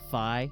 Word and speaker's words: Fi: I say fe, not fi, just like I say gif.